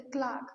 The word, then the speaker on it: clerk: The clerk, the clock, I should pronounce it as a clock.